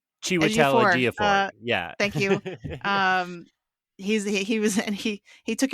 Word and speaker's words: Chiwetel Ejiofor: And then she's like, flirting with, I can never remember how to pronounce his name correctly. Chiwetel Ejiofor.